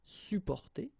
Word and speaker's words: supporter: You don't really pronounce the two or the double P here. Supporter.